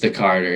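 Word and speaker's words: Tha Carter: that carter or no i'm sure it's just the carter yeah the card right okay yeah yeah my caucasity prevents me from being able to like fully you know um but i was listening to the carter too and i was like oh my god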